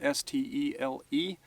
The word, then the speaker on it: stele: We tend to spell it S-T-E-L-E and pronounce it stele.